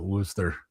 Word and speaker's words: Worcester: Yeah, it's That's how they pronounce it, Worcester.